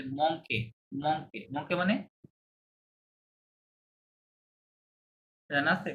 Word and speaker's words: manque: মংকে, you silent, ই আর থাকলে লাস্টে a sound হয়, তাহলে মংকে, মংকে, মংকে মানে জানা আছে?